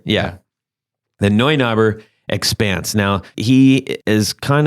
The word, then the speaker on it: Neunaber: I believe it's a Neunauber. You could be right. I don't know. I've always wondered exactly what it was. Yeah, how's it spelled? It's spelled like N-E-U? N-E-U. Yeah, it's Neu. Neunaber.